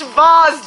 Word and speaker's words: V.A.S.E.: successfully with my eggs it's pronounced vows damn it I was